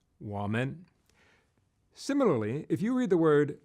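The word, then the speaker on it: 我们: meaning we or us in Chinese, which is pronounced woman.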